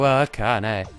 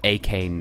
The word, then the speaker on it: Akane: Oh, Akane. Or Akane if you want to pronounce it incorrectly.